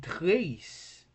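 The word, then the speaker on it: τρεῖς: In trace, now some people would say that trace has two syllables because it's trace. They would say tre and is. No, it could have been that, but since a is a diphthong, we shouldn't see it. We shouldn't see these two letters as two separate letters in terms of pronunciation, but as forming one letter as a diphthong.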